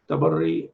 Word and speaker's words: Tabarri: Tabarri or Tabarra.